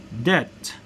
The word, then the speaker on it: debt: with silence B sound read the following words with silent B sound that means you're not going to pronounce but examples of this